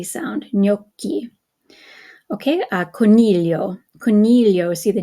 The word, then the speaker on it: coro: and and again the co o we have the hard C because it's an O okay go back up here again c a CO CU is a hard k sound so Coro Coro and then we have